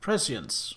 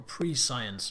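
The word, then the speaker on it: prescience: Precience or pre-science if you want to pronounce it wrong.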